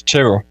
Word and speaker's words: Tyrrell: even intro him we're going to get the pronunciation right is it Terell or is it Terell it's it's Terell Terell Terell Terell ladies and gentlemen from are